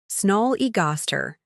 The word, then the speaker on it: snollygoster: to grab a snack word for sniger pronunciation snol easer meaning a smart but unprincipled person often used for politicians let's be real we all know a snollygoster or two don't we